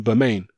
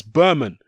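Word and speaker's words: Bermane: e on the end I was calling him domain but I saw several interviews Rufus the firm where he was saying my name is not the main its Berman call me Berman don't call me boo main so I was that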